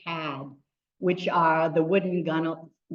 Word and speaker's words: gunwale: which are the wooden gun. How do you pronounce that? Gun, that's what. Yeah, I used to say gunwales, and I knew that was wrong.